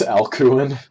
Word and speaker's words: Alcuin: Alcuin, It's Alcuin. Mighty Balloon is getting you can actually- pronunciation. I always pronounce it with K sound.